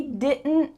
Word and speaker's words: didn't: final negative part because the t is stopped short in your mouth so when you're used